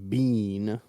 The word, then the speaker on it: Biehn: On Wikipedia, it says his last name is pronounced Bean. All right, Michael Biehn as Corporal Hicks.